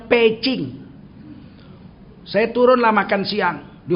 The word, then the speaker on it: Beijing: 2005 sampai di peacing orang sini ini bilang Beijing sebetulnya bacanya pching orang dulu bilang packing bebek packing zaman lama namanya packing sekarang karena tulisannya ditukar jadi Beh Beijing orang Cina Kalau Beh itu dibaca P kalau J dibaca cheh jadi Beijing itu bacanya peacing saya turunlah makan siang